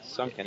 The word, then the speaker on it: Sunken: Sunken is the phonetic. It's a phonetic, and we definitely mispronounced that in the first half, or at least I did.